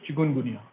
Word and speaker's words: chikungunya: And sometimes it is pronounced as chikungunya or chikungunya, but this is not a pronunciation, it is chikungunya.